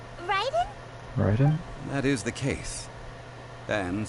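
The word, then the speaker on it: Raiden: thinks we've heard that one before uh you pronounce it R Ryden Ryden that is the and since Ryden is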